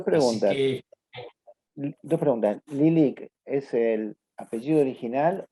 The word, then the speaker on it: Lylyk: No, el nuestro, por fortuna, es Lilik, se pronuncia Lelek en ucraniano.